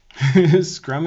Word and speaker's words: Scrum: Scrum is pronounced scrum. Wouldn't there be two U's in it though? Scrum. Unless you say it all country, it's screw 'em.